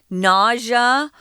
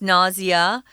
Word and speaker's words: nausea: It may also cause something called nausea, or you can pronounce this nausea. I think more people say nausea.